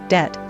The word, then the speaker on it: debt: b despite the MB so are other cases of a silent B debt subtle Etc there is